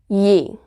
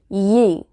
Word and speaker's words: Ee: And my mom looked it up, the pronunciation, and it said Yee, which is really weird.